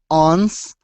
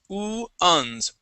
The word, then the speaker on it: ones: First up is the word ones. Okay, this is pronounced uns.